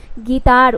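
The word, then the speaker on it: guitar: बट यहाँ पे क्या है गाइस, यहाँ पे रूल आपको समझाया जा रहा है कि यू लेटर के बाद कोई भी वाउल आए तो आपको जो है यू को साइलेंट करना है। तो यहाँ पे ये वर्ड गिटार।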